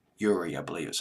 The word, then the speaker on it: Urie: Hope I pronounced his last name correctly. Urie, I believe is how you pronounce it.